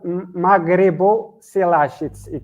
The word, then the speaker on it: Maghriboselache: It's called Maghriboselache. It's two words together. Maghrebo. It's more refers to Morocco. Selache. It's Cloudoselache.